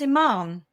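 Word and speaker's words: Imane: Oh, it's Iman. Yes, it is. Iman with a silent E.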